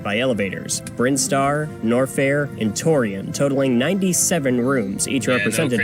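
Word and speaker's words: Tourian: But anyway, I actually thought it was Torrain. But yeah, then I saw it again when I beat Super Metroid again later. I was like, wait a minute, that's not how it's spelled. It is Torian.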